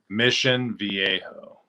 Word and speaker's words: Mission Viejo: mission viejo you just don't say it correctly mission viejo mission viejo halfway between san diego and los